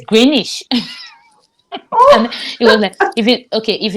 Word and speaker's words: Greenwich: calling them I remember calling Greenwich you know Green wish they call it greenish here greenish in secondary school they